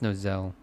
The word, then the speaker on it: Nozel: It's pronounced Nozel.